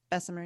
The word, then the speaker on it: Bessemer: It's structured this way on purpose, and there's a reason they set up shop in a town like Bessemer. Is that how it's pronounced? Bessemer, yeah.